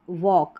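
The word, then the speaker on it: walk: अब यहाँ पर जो है के से पहले जो एल आ रहा है वो वालक नहीं बोल रहे हैं, तो यहाँ पर जो है एल साइलेंट है। वॉक, वॉक, तो एल का साउंड नहीं आ रहा है, और ए के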